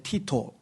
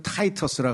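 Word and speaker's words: Titus: 황제의 그 동생 중에 티토 티토는 이제 라틴어 식으로 발음하는 거고 영어식으로 얘기하면 이걸 타이터스라 그래요.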